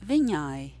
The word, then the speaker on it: Viņai: So the word that precedes the word sāp is Viņai.